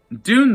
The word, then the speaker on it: Dune: My favorite film of 2021 rhymes with tune. Doon, doon, doon, doon. Warner Brothers did good with the remake of Dune.